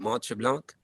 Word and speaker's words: Mont Tremblant: I played and you know what I played Mont Tremblant Festival. How do you say it? Mont Tremblant.